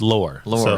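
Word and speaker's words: Loehr: I don't even know how to pronounce his last name. Lair, I think.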